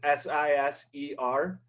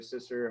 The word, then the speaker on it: Siser: So this S-I-S-E-R, that is pronounced Siser, not Siser or Sister, however you say it.